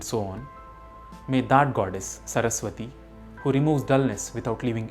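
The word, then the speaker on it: सरस्वती: In the last line, it is Saraswati, not Saraswati. It is Bhagavati and not Bhagavati. One also needs to be careful while pronouncing the word Nihshesha.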